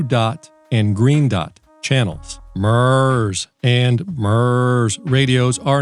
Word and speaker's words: MURS: multi-use Radio Service and it is correctly pronounced Ms Ms radios have only